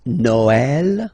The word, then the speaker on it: Noël: that in some cases you will have to pronounce it like eh, okay, like for instance Noël, okay, but then in some cases as well it can be pronounced like eh, okay.